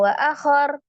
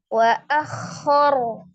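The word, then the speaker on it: وأخر: berharakat fathah sifatnya ragah jadi jangan langsung wa akhar tapi wa akor wa akhor rnya disukunkan karena waqaf ro fathah dibaca dengan tebal ro sukun sebelumnya fathah dibaca juga dengan tebal ya takim jadi rnya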